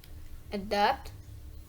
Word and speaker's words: adopt: Word stress explanation: adopt, throat, nonchalant. One of the word stress is adopt. It's because stress often falls on a second syllable for two-syllable verbs.